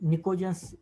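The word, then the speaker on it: pnictogens: then नाइट्रोजन family का दूसरा नाम पिनकोजेंस भी कहते हैं इसको, ओके, पिनकोजेंस कहा कहते हैं, कुछ जगह पे निकोजेंस, मतलब पी साइलेंट रखते हैं, निकोजेंस भी कहते हैं,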